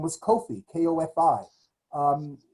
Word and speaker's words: Kofi: your day name was kofi kofi um we would anglicize that or phonetically we would spell or call that coffee or cup there are thousands of